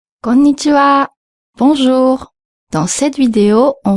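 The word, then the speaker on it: こんにちは: Pour la prononciation, fais attention de bien marquer la deuxième lettre, le son n. Konnichiwa. Il faut pas dire konnichiwa, il faut dire konnichiwa. Et ensuite, l'avant-dernière lettre, le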